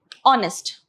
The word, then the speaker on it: honest: like for example uh honest okay honest though it starts with a consonant okay this is silent so the vowel sound only has to be considered okay it's honest not